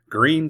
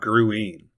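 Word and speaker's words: Gruene: Green, Texas. Pronounced just like the color, not Gruen.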